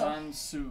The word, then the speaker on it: San Soo: Also, Shikyu, it's spelled S-A-N space S-O-O. Yeah, so San Soo.